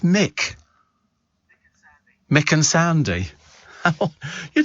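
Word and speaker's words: Muick: uh muck but I'm sure it can't be pronounced muck it doesn't I don't know what it means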